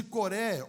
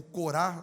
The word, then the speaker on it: Coré: Depois de Asaf, os filhos de Coré, ou Corá, dependendo da tradução, escrevendo 10 salmos.